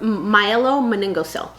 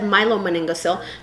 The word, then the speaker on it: myelomeningocele: What form of spina bifida I want to talk about that's the most common is called myelomeningocele. I think it's actually said myelomeningocele, but since I'm breaking